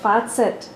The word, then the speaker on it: Fazit: The word is German, and it's pronounced, and it's one Z, and it's pronounced Fazit.